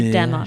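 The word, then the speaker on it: Demoux: Brandon says that I can pronounce it any way that I want. So I choose to say Demux.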